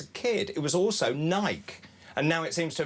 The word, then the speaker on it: Nike: with bike or does it rhyme with spiky?" And click and ticked the right one. He he ticked spiky and sent it back to him.